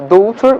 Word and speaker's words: daughter: in English for example the word daughter is pronounced uh daughter with GH but it's not spelled in and